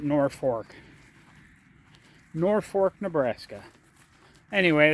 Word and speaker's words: Norfolk: else in the world, you'd look at the town in Virginia and say that's Norfolk. It's spelled exactly the same way. I have no idea why, but people in Nebraska call it Norfolk.